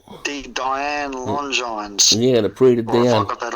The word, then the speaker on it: Prix de Diane: Yeah, the Prix de Diane. Or have I got that all wrong? No, it's called the Prix de Diane.